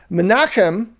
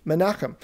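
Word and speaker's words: Menahem: the church in antioch menachem it's it's spelled out manam in the in your english bibles but that's the greek form of a common hebrew name menachem he's believed to be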